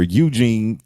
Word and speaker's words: Eugene: Speaking of hearing things, I remember one time I had a staycation here at Arrive where Eugene, because it rhymes with Blue Jean, will park your car for you.